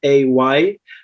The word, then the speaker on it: Violet: And so they rebranded it Violet, Veolay. So people would notice the difference between the brand and the flower, and also so that people could pronounce it correctly, like the French phonetic way to say it.